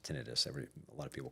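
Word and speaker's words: tinnitus: my my wife tells me it's it's actually pronounced tinitis. Every a lot of people call it tenitis, but it's she's a speech pathologist, so Oh, okay.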